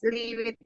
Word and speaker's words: lived: Just one thing, the pronunciation of this one is live. Live here, like this. Or Live 20. 20, yes. But don't forget the 20, pronunciation. teacher. 20. Yes, very good. There you go. 20. Just don't forget the pronunciation is live here. In these ones, we don't pronounce the ed. We say live.